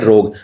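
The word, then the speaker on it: rogue: ROG, ROG नहीं है, ROG के बाद U और E भी आते हैं, इसे बोलते हैं रोग। हाँ लेकिन बोलने में U और E का उच्चारण नहीं होता, इसलिए कंफ्यूजन हो जाती है।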